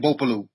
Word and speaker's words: Bopolu: I said, is there a silent G in that one? Bopolu. No, not in Bopolu.